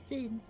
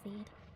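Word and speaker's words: Cid: Sid, I always forget, it's pronounced Sid, not Seed.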